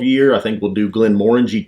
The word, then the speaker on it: Glenmorangie: the balcony 12 year i think we'll do glenmorangie 10. orange is good we know how to say it this time first time we did it when i said it oh glenn randy you know yeah that's how i said it i think that's